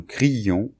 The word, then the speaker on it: criions: Mais ça se prononce comme s'il n'y avait qu'un seul I. Hier, nous crions parce que nous avions peur.